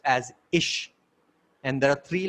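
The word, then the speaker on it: אשה: Similarly, woman is pronounced as Isha in Hebrew, and the He of God is there in the woman.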